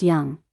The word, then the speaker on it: Dung: His name is Dung, but it's pronounced Young, he's Vietnamese.